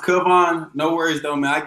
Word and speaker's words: Kavon: going on so what's up everybody and it's pronounced kubon no worries though man i get kevin and people and everything all the time uh